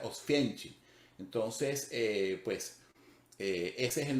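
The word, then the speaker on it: Oświęcim: es un nombre alemán en polaco se pronuncia ostencing entonces pues ese es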